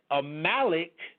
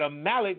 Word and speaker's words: Amalek: you're saying there that a malik that's how I I pronounce it some people call it the amulet I pronounce it a Malik or malachite and yah